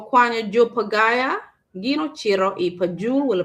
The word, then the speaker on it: Pagaya: ieke mi payaya wala pagaya. I think it's an error, it's a spelling error. Omako ke pagaya, not payaya.